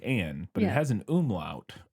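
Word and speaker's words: Änne: And I looked it up and it says that's pronounced like an E sound kind of in English. an eh. Like an eh, so Anne I believe would be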